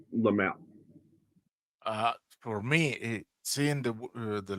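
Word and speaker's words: Laemmle: They call him Lemley. And when I was a kid, I was told it's pronounced Lamel.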